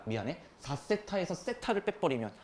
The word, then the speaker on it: 세타: 4세타에서 세타를 빼버리면 아 미안하다. 이거 읽는 방법 안 알려드렸죠. 세타. 그냥 우리가 발음할 때 그냥 이렇게 읽으시면 돼요.